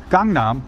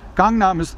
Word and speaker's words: Gangnam: And as a general rule, when you're reading a Korean word that has been transliterated to English, romanized, they say, then when you see that A by itself, there's no other vowel next